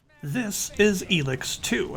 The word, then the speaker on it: ELEX: this is elix too i actually thought it was alex until they heard the pronounce it in game sorry anyway uh elix